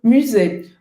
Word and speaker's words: musée: Aqui é outro biquinho francês, que é o U. Você vai fazer a boca do U e vai falar I. Musée. Musée. Aqui o som do E no final existe em português, então aqui não tem problema.